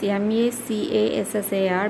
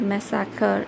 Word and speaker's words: macassar: It is written as M-A-C-A-S-S-A-R, but Mecca, it is not massacre, it is macassar.